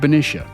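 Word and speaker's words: Benicia: and it runs into the neighboring city of bish as the locals pronounce it along the way it angles Past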